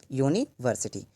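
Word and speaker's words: university: Pronunciation में हम इसे बोल रहे हैं यूनिवर्सिटी, ये या से शुरू हो रहा है, इसलिए हम इसको पढ़ेंगे द यूनिवर्सिटी, ना कि दी यूनिवर्सिटी पढ़ेंगे।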